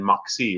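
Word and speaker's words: Moxee: but it's actually, you guys are actually in Moxie, right? Yep, technically in Moxie. And did I pronounce that right?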